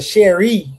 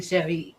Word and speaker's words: Cheire: No, I mean, but my name is confusing because it's French, and so it is technically Cherie, but it's like we say it the American way, so it's like Cherie,